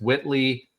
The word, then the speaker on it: Wihtley: Next, we have, I don't know if they misspelled this or not, but it's Whitley Cadeau, but it's spelled Wihtley.